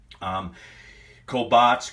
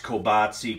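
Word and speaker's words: Kolbász: One thing I want to mention on the enunciation, Kolbasz, Kolbashi, Kielbasa, Kielbasi. There's just different ways that these sausages are pronounced, and I was told these ways to say these sausages. That's why I say them that way.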